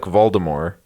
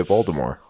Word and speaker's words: Voldemort: Stanger stangert some people some people don't pronounce the T like Voldemort but I've always pronounced the T so I say stinger it and I say Voldemort well I'm always spilling